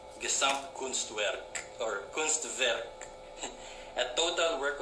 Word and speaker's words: Gesamtkunstwerk: There's a word from the Bauhaus ideology called Gesamtkunstwerk. I think pronounced better, it would be Gesamtkunstwerk or Kunstwerk, a total work of art.